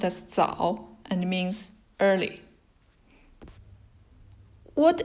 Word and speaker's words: 早: It's pronounced as 早, and it means early.